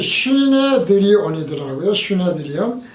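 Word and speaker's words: συνέδριον: 산헤드린을 그래서 헬라어로 찾아보니까 발음이 시네드리온이더라고요.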